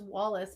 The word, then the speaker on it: Wallis: His name is Wallace, but it's spelled Wallis.